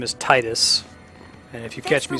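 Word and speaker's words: Tidus: miss something yeah so the correct way to pronounce the name is Titus and if you catch me saying it that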